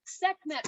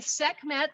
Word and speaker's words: Sekhmet: look at that that cobra and i'll spell sekhmet for you those of you that are taking notes again sekhmet that 3 000 year old statuary sculpture that